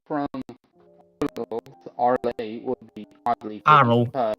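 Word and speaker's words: Arles: anything from Arlay would be oddly Arrow. because It's pronounced Arrow. It's French.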